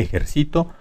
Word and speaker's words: ejercito: esbrujula esbrujula ejército grave ejercito y aguda ejercito así como está escrita la palabra tiene la sílaba tónica en la penúltima por eso es grave las reglas son las